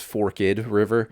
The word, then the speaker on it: Forked River: It's a town that's spelled Forked River, but it's Forked River.